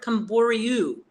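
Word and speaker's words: Camboriú: so I won't be close to koru because it's R IU at the end and bernero bario is like Rio at the end R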